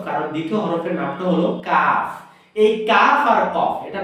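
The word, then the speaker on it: كاف: হবে কা কা কা কাফ। আরো সহজ করে বললে বাংলায় যে ক আছে না, ক একা, ঠিক এই টাইপের উচ্চারণ, কা কা কা কাফ কাফ। এটা হলো কাফ।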